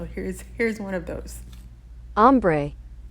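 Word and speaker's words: ombré: in French so here's here's one of those ombre ombre is actually from a French word meaning shaded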